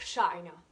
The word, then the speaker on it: China: Donc comme par exemple, la chi en anglais, on accentue sur la première syllabe et on va dire China.